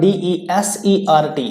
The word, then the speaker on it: desert: अब देखिए यहाँ पर DESERT, इसको तो बोलते हैं desert प्रोनाउंसिएशन, बट अगर ये इस तरीके से होता है DESSERT, यहाँ पे S की जगह डबल S होता है, यानी SSERT होता, तो ये इसका प्रोनाउंसिएशन बनता है डिजर्ट।